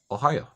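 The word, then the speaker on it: おはよう: Oh ha yo ooh but when you pronounce it real fast all together it's Ohio now let's move over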